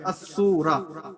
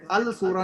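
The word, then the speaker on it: السورة: अशमसिया मतलब अस्सूरा, इसमें अल सूरा नहीं कहेंगे, अस्सूरा पढ़ेंगे। उसमें लाम जो है वो प्रोनाउंस नहीं होगा, लाम को हम नहीं पढ़ेंगे, सिर्फ सीन को पढ़ेंगे, अस्सूरा।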